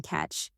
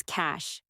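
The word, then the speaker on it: cache: I found it in the system catch. No, no, it's cash. Pronounced cash nerdy, but expensive sounding.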